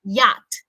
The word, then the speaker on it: yacht: Luis uh Fargo yes yacht yacht weird spelling the CH and the word yacht is kind of weird as well Christian so